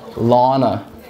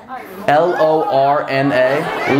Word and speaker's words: Lorna: Lana. Lana. Lana? Lana. Did I not just fucking say that? Spell it. L-O-R-N-A.